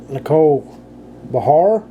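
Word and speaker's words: Nicole Behar: We got Nicole Bahar. That's how you pronounce that.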